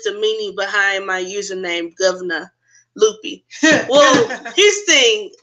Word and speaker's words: Gov-Na: And you got to say it like that. That's why it's Gov-Na. Not governor. No. It's Gov-Na.